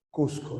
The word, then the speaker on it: Cusco: el Costco correcto ya en castellano se pronuncia cusco no los incas Cómo